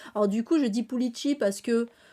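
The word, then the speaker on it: Pulixi: Alors du coup, je dis Pulici parce que Je le prononce comme le X basque, en fait, et parce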